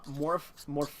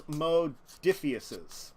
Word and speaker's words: Modiphius: But I do want to talk about Morpheus? No, it's Modiphius's.